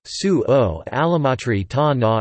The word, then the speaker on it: sugo all'amatriciana: Sugo or salsa all'amatriciana, Italian pronunciation, sugo all'amatriciana, is a traditional Italian pasta sauce based on